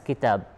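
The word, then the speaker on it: كتاب: So, but however, if you pronounce both of these words, you will pronounce the same. You will recite it as kitab.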